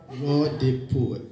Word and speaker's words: Raw the Poet: The next performance for tonight is Raw the Poet. That's how it's said, Fafa. Raw the Poet.